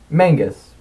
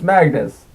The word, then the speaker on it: Magnus: Mangus. Rhymes with Angus. I always corrected them. No, it's Magnus. Rhymes with Swagnus.